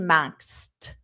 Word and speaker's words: maxed: And just notice that pronunciation maxed with a very soft t.